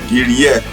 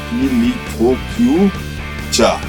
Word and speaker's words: Giriyak: You have to take the real names which are existent today, and this mountain is called Giriyak, mispronounced by Zhang as Ki-li-tho-kiu-cha.